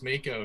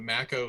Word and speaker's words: Mako: in the game so all this time i thought it was mako so i messed up mako is a shark but macko is the uh is the final fantasy worst pronunciation i feel